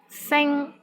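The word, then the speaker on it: sing1: Sing, which means star, S-I-N-G-1. Here the initial sound is S, and final sound is ing, I-N-G. And the syllable is in the first tone.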